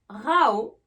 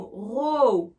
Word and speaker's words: row: Avec le son AO, rao, c'est le verbe disputer. Enfin, se disputer. Et pour le mot row, avec le son O, c'est le mot rang.